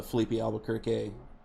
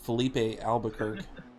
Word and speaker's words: Filipe Albuquerque: five car that's a Filipe Albuquerque oh man I butchered that let me try that again Felipe Albuquerque draw Barbosa and Christian